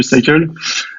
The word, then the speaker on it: Psycle: Alors chez Cycle, et moi, qu'est-ce que je fais ?